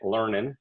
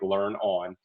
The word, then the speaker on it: learnon: And yes, there is risk of people pronouncing it learnin', but we thought that we would we'd go with the risk, and we like the idea of it being something simple like learn on.